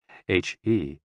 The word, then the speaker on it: he: associated with the liver h e pronounced like her with a yawn which